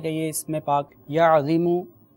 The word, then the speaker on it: عظیم: بھی پڑھ کر۔ یا عظیم، دیکھیں اس میں تلفظ کی درستی مدنی چینل کے ناظرین بہت زیادہ ضروری ہے۔ عین و یا میم، یا عظیم۔ جب بھی آپ پانی